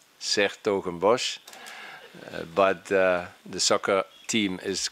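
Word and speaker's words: 's-Hertogenbosch: I'm a mayor of a middle-sized Dutch city with a difficult name to pronounce, Sertogenbosch.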